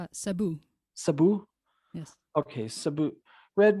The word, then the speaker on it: Cebu: Cebu? Did I say that right? No, it's Sabu.